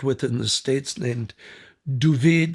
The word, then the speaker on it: David: And that's Ferris luck because I was hired by an Israeli cameraman that I'd worked with in the States named Duvid, they pronounce David Duvid, Gerfinkel.